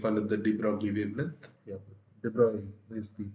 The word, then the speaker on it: de Broglie: Yeah, de Broglie is the pronunciation of the name.